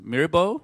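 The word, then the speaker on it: Myrbo: We have Jess Mirbo, it's pronounced.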